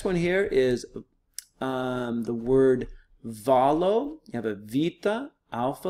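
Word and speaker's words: βάλλω: by yourself next one here is the word valo you have a Vita Alpha Lambda the lambda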